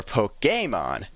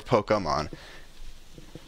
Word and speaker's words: Pokémon: one looks for Pokémon, which I guess is how how you would pronounce it without the accent. Everyone looks for Pokémon, which is how you're supposed to pronounce it when it does have the accent.